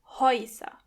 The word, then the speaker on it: Häuser: As you can hear when the letter ä umlaut comes before the letter o, together they are pronounced oi. Häuser.